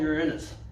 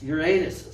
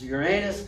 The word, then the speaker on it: Uranus: it's not outside angle just like the planet that people call uranus it's not called uranus it's uranus say it right it's uranus and it's angled side